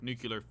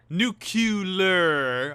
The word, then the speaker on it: nuclear: right to power their nuclear Vision devices this gas station nuclear not nucle nucular I will say it